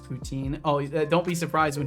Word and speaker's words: poutine: doing some silly text replacement stuff a and poutine and maple syrup and mountains it is pronounced poutine oh don't be surprised when he butchers pronunciations